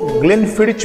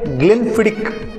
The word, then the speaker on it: Glenfiddich: से करते हैं, मतलब लोग इसको ग्लेनफिडिच बोलते हैं, कुछ लोग इसको ग्लेनफिडिस बोलते हैं। फ्रेंड्स, इसका जो करेक्ट प्रोनाउंसिएशन है ये है ग्लेनफिडिक, ग्लेनफिडिक।